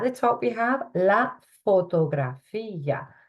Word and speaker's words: fotografía: At the top, we have la fotografía. Accent on the end there, la fotografía.